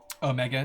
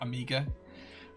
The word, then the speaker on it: Omega: Omega, not amigga. I I'm I'm from the UK. Chaos. Like I just It's just how I pronounce it.